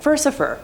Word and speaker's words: Furcifer: It seems much more likely that the name is a corruption of Furcifer, the Latin word for scoundrel that also rhymes with Lucifer, which works with him being a count of hell and all.